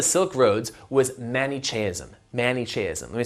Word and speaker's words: Manichaeism: created by the Silk Roads was mani chasm manichaeism let me spell it for you MA and I CH AE